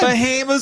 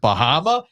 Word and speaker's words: Bahama: the one on the top of my head Bahama's always a go-to is that Bahama no good sir it's pronounced Baha and then my other favorite is